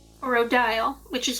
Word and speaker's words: Odile: No, no, I'm asking Madame Odio. Is it cutlery? Od is the traditional French pronunciation.